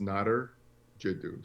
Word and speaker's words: Nadir Jiddou: for you well first my name is uh pronounced knotter j dude so so you're close not it's just not there so it's not her that's the way to pronounce my name but in anyways uh